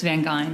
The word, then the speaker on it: Van Geyn: make sure I get it right is it van gain or van G Shar your your your issue it's van G like van perfect thank you um I just